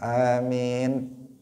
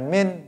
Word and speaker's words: amin: Amin. Ada sebagian yang baca hanya min gitu aja, nggak ada a-nya karena apa?